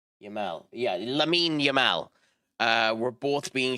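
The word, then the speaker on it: Lamine: um Lenny Lemens what the how do you pronounce it? Um Yamal Yamal. Yeah, Lamin Yamal.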